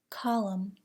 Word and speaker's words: column: Do not pronounce the N in the following words: autumn, column, condemn, dam, hymn, solemn.